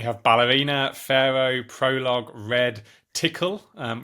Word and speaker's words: Tcl: ballerina Pharaoh prologue red tickle um which you might know is TCL but it's pronounced tickle and Unison and each